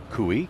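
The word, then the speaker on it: Kooy: Cooey, number 13, we were kind of wondering how that might be possibly pronounced, and indeed it is Cooey, K-O-O-Y.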